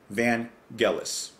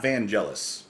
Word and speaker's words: Vangelis: could make sure that I was pronouncing his name correctly. Vangelis. Not Vangelis. That's what I was saying before.